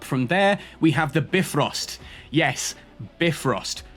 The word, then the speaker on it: Bifrost: 100% it is Bifrost, not Bifrost.